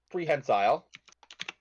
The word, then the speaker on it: prehensile: I am just going to spell this 'cause I have no clue how to pronounce this. Yep. Pre. Hen. Hen. Prehensile.